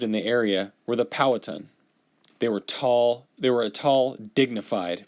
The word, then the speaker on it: Powhatan: So, I said Powhatan, right? But it's pronounced Powhatan. So, forgive me for that. Powhatan.